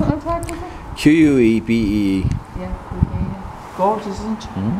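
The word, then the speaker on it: Quebee: Yeah, it says Kubi. Yeah. That's a race tag. That's a race tag. Mm-hmm. How'd you spell it on the tag? Q-U-E-B-E-E. Yeah, Kubi.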